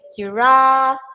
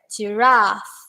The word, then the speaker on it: giraffe: The function of the yellow brown, okay, you can see the letter R and E, and there's two dots there. That means you need to make it long. Okay. Giraffe. You can see when I pronounce ra is long.